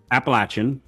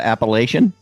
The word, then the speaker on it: Appalachian: Appalachin. Yeah. It's not Appalachian. No, that's that's what the that's what the Yankees call it.